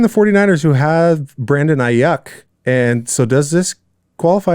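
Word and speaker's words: Aiyuk: But speaking of Brendan Ayuk, which Steve Levy and the Monday Night Crew kept saying Ayuk. Ayuk, yeah. which is not how you say it. It's Ayuk.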